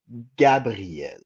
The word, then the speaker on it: Gabrielle: My daughter's name is Gabrielle. It's Gabriel. Gabriel, but in French the A is pronounced A. Yeah, it's like a sharp Yeah, A.